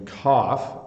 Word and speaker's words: cough: the picture is coughing so that's another gh where it's making an F sound to cough and then this this word